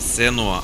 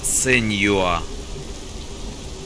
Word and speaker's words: Senua: А она сказала не Сенуа, а Сеньюа. Значит, ее правильно Сеньюа зовут. Сеньюа, а не Сенуа.